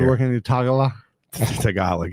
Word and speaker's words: Tagalog: Tagalog, yeah, that's how you pronounce it, but yeah.